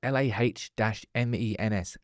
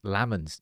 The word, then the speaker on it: Lammens: Jack, give me It's pronounced Lahmens. Lammens. No, it's not.